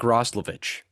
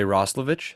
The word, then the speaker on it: Roslovic: Jack Roslovich. There you go. Oh, okay. Some people say Roslovich, some people say Roslovic.